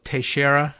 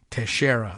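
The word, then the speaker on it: Teixeira: this was the uh oh tashera is that how they're pronouncing it in the New York area okay I was looking for that note coming through here teshera like like in rui to share has the same name I recognize the name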